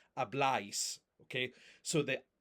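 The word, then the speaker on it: habláis: If you don't have that accent, then it's pronounced ice. Ablice. But that's not how it's pronounced. It's obl.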